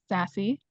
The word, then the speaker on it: SAASC: s a c um which we usually shorten even further and pronounce sassy um good to just